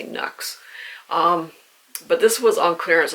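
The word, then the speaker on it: Nuxe: I'm assuming it rhymes with Lux, so I'm going to say Nux.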